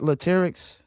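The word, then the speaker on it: Latyrx: Is that Latics? That you did pronounce it right, which is not Everybody don't do that, but yeah, you did.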